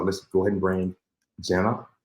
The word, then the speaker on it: Gena: uh today so let's go ahead and bring Jenna how you doing hi thank you and I